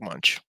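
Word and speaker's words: Moench: stuff I'm so glad you went first Doug munch got it that's how you say it I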